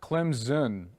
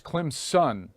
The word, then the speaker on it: Clemson: Clemson fans are like it's not Clem's in its Clem's son I'm like really like